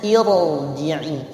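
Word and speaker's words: ارجعي: Bacanya irji'i, dibaca tetap tebal. Kenapa? Di situ ada gharib.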